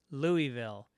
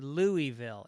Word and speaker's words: Louisville: week you are doing Louisville you say Louisville it's actually Louisville like beautiful which is absolutely right